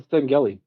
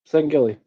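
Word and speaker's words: Sangheili: I think that's a Seneli without his armor on. Is that a Mass Effect alien? No. Google it. Sangilli. How do you spell that? Silly. S A N G.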